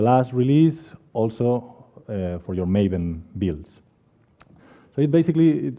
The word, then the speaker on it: Maven: not gravel feel free feel free to correct me if I say Marvin along the along the way talk and I will try to say maven also so I've been